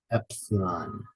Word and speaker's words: epsilon: Africa Delta Epsilon X Epsilon the stress is the first syllable again Epsilon Epsilon C Yonka